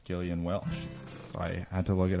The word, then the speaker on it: Gillian Welch: know how to pronounce Gillian Welch I had to look it up on the Internet it's a hard G by the way everything is free